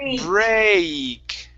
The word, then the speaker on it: break: to the a first go to the a sound first break break okay that's that's a little bit better okay but you're still hitting the e sound before the a okay so with this